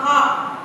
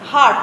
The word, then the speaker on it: heart: बहुत इजी है आंसर इसका, आंसर होगा द हार्ट, HEART, हार्ट। ठीक है, हार्ट उच्चारण इसका होता है हार्ट, हर्ट नहीं बोला जाता, हार्ट बोला जाता है, हार्ट। Right pronunciation is हार्ट।